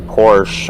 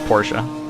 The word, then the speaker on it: Porsche: I'm two positions down I'm going to charge you $5 every time you decide to omit the last syllable of Porsche there's a couple of